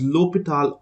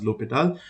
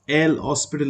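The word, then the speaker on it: L'Hôpital: cases this term here L opal right it's pronounced as lital or l hospital because it was written as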